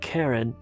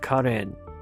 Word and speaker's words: Karen: So Karen Minan and by the way that's the way you pronounce it. It's not Karen but Karen.